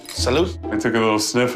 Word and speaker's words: salute: yeah it sounds good it's not Salo salute I took a little